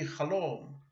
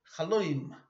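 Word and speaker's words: חלום: A chaloim, a dream, in Hebrew would be chalom, but in Yiddish it would be chaloim, like an Ashkenazi.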